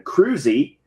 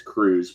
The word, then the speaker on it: Cruse: I'm talking about Cameron Cruse, which every bone in my body wants to pronounce it as Cruse, but that is incorrect. It is Cruse.